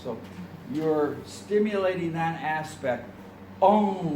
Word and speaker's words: Ong: Ong, when you pronounce it correctly. Ong, it's like you're hitting a gong. Ong. Your tongue comes up against the upper palate.